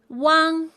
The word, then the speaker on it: uang: UANG is pronounced as Wang. Wang. It sounds very similar to the Chinese surname Wang, but make sure you open your mouth wider and say Wang.